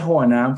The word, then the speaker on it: Joanán: Entonces, entonces lo digo Joanán, se pronuncia Joanán para efectos legales en español, pero digo yo, y ya está, se acabó el rollo.